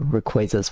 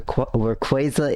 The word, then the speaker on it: Rayquaza: no clue as to Rayquaza's whereabouts Jason do you perhaps nowhere quasa is now sorry I'm trying to retrain my brain because that is the correct pronunciation of that legendary Pokemon it must be the